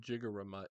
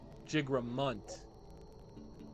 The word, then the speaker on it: Jigramunt: Forest of Jigaramut is that way. Oh, you know what? We have to go to the Forest of Jigaramut. Jigramunt. Jigramunt. I always say it wrong. I always say Jigaramut.